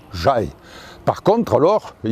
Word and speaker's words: Jaï: écrit ja y et maintenant on l'écrit J a I avec entraîneur mais on ne le prononce toujours de la même façon on prononce toujours j'aille par contre alors il